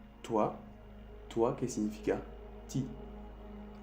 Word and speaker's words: toi: Cuando tú ves un O y un I juntos, hacen el sonido wa. Wa. Como aquí te escribí, O-A. Wa. O-A. Wa. Por ejemplo, toi.